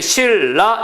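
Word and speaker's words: 신라: 되는 거 리 되는 건로 정다 기억하시죠 그다음에 실라 역시 유마로 적습니다 그러니까 비마나 유마가 일어나는 법칙에 있어서 그것을 반드시 표기 즉 발음나는 대로 적는다는 걸 기억을 하셔야 되는 겁니다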